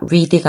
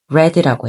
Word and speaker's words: read: read의 과거형은 철자는 똑같은데요. 근데 이걸 발음을 좀 다르게 합니다. read가 아니라 read라고 해요.